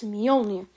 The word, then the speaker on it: Mjolnir: try to pronounce it, don't sound it out, because if you sound it out, it's going to say Mjolnir. It's Mjolnir, okay? Look, let me show you. So, Mjolnir. It's not Mjolnir, Mjolnir.